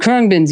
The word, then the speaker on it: Khruangbin: I've met the kindest folks, And Krungbin's music, though, everybody's got to check him out. How do you spell that?